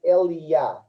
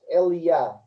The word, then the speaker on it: Elijah: So when we say Elijah in English, you can say Eliah, like my youngest. Eliah is the correct pronunciation in Hebrew.